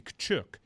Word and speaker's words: Tkachuk: I'm glad you mentioned that, because last week I was told that I've been pronouncing Matthew Tkachuk's name the wrong way, that it's supposed to be Tkachuk.